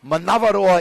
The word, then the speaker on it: Manavaroa: Now, Manavaroa is kind of more of a Tahitian or a Cook Islands pronunciation. How would you say that in Maori? Oh, give me just Manavaroa is how we would say it. We'd follow on with that. And we'd roll the R, roll.